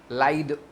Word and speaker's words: lithe: लाइड, LITHE, इसका pronunciation होता है लाइड, लाइड होता है, हाँ? लाइड।